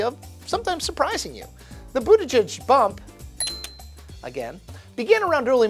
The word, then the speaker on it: Buttigieg: That guy is Pete Buttigieg. That's B-U-T-T-I-G-I-E-G. Boom, nailed it. Ding! Boot edge edge. That's how you say it, except fast.